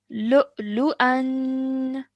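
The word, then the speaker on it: لؤلؤا: Lu'lu'an. Lu'lu'an. Excellent, well done. Remember the nasal sound at the end because of the tanween. Lu'lu'an. Lu'lu'an. Okay, stretch the an at the end.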